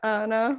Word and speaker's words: Annah: name is it anna it's anna i just got an h at the end because i'm cool michael